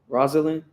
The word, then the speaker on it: Rosalyn: Is it Rosalyn? Am I saying it correctly? Rosalyn. Okay. Cool, cool, cool.